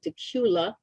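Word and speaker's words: Dacula: I'm actually in a town called Decula, which I call Dracula because it's spelled like Dracula without the R.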